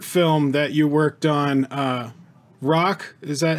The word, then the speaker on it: Raakh: saw the short film that you worked on rock does that how it's pronounced ra-a-a-h right that came out last year correct right